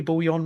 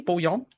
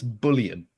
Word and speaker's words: bouillon: Don't tell me it's bullion. That's the only other way I could see I've it heard pronounced. bullion as well, but it's bouillon.